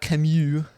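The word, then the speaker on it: Camus: Up next, The Stranger by Albert Camu is the French pronunciation.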